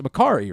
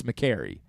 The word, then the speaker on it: McCarry: hey dude you know it's makari right and he's like no actually it's mccarry i was like okay well